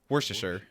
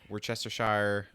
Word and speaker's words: Worcestershire: it is worcestershire worcestershire i say worcestershire worcestershire sauce yeah it's worth my aunt but it's spelled war chester yeah i know some people that will say like we're chester shire worchester worship orchestra i feel so bad